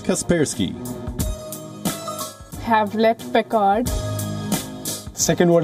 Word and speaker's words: Kaspersky: guesswork see Kaspersky Kaspersky the correct pronunciation is Kaspersky have left picard second